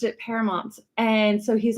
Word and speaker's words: Paramount: married, there's a city in Southern California called Paramount. Oh yeah. Which he is like, when I was growing up, everyone pronounced it Paramount.